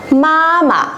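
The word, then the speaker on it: 妈妈: Đấy, tuy nhiên là trong quá trình sử dụng người ta sẽ đọc nhẹ cái chữ ma thứ hai đi và đọc là mama, mama.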